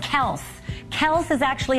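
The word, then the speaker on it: Kelce: the winds this month yes I said Kel Kel is actually how you pronounce his name it drives me crazy everyone calls him Kelsey so uh without you know question what a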